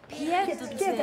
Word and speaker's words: pied-à-terre: We're going to Kirsten's new pied-à-terre. Pied-à-terre.